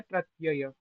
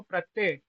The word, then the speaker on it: प्रत्यय: करिए ही करिए और यह जो बचपन से हो गया है प्रत्यय प्रत्यय नहीं होता क्या होता है तो इसका उच्चारण क्या है युवराज जी बोलिए इसका उच्चारण होता है प्रत्यय और जो आप बोलते हो प्रत्यय वो यह होता है।